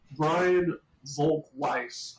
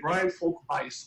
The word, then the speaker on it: Brian Volk-Weiss: company and Brian uh I always want to pronounce his name the German way but he does it so have to always correct myself Brian Volk Weiss I always want to